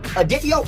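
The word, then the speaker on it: Adatiel: Pronounce it adio.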